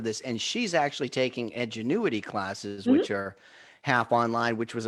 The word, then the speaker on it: Edgenuity: Am I saying it right? Edgenuity, yep.